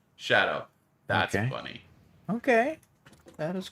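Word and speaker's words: Tsadou: T-S-A-D-O-U. That's just Shadow.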